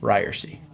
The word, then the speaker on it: Ryerse: This is Ryerse, and this is It's Pronounced Ryerse.